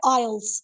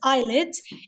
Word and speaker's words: IELTS: And they still pronounce it IELTS, ठीक है. So ये वर्ड हमारे पास रहेगा तो IELTS ही, but many people pronounce it एज आईलेट्स. इसका ये मतलब नहीं कि हम टीचर्स भी जो नॉर्थ सही इंग्लिश बोलते हैं वो आईलेट्स करें.